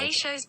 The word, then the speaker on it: Peychaud's: Peychaud's bitters.